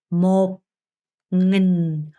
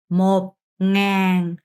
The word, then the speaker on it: một nghìn: 그래서 1천은 발음이 어려우니까 잘 듣고 제 입모양을 잘 보셔야 돼요. một nghìn, một nghìn, một nghìn, một ngàn, một ngàn, một ngàn, một nghìn, một ngàn 이라고 합니다.